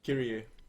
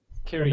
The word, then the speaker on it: Kyrie: Yeah, and me and Kyrie, how do you actually pronounce it? Kyrie. Kyrie.